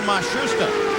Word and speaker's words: Matsushita: Now it seems that they have settled on Matsushita.